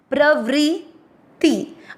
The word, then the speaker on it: प्रवृत्ति: पहला चरण प्र का मतलब हुआ प आधा और र पूरा। व्री का मतलब हुआ व आधा और नीचे री से ऋषि की मात्रा VRI। प्रवृत्ति।